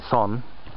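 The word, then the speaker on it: 선: It's actually the Korean cognitive Zen, which is pronounced Son.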